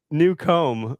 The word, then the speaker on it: Newcomb: It's new comb."